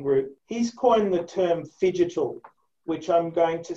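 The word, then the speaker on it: phygital: invested in precision group he's coined the term fidget which i'm going to say i think it's it's not it's spelt p h y g i t a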